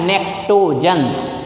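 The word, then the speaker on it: pnictogens: That is why this group elements are known as nectogens. P is silent.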